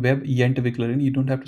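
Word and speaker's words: Webentwickler: It's if it's difficult to change, but the correct way to say is web entwickler and not entwickler.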